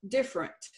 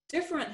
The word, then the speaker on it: different: Like that first word, different. Different has 3 syllables, but we in Texas drop that middle syllable, and we sometimes transpose some letters.